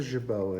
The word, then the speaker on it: jabot: Isn't he wonderful with his little, is that jabot? Is that how you say it? Yes, that's a jabot, isn't it?